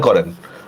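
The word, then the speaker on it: করুণা: কিনা বলেন তো করুনা অধ্বনির পরে র এর মধ্যে রসু আছে তাহলে এইজন্য আমরা কি করব কিভাবে লিখবো কয় ওকার ক র রসকার রু নকার না দন্ত নকার না দেখছেন করু না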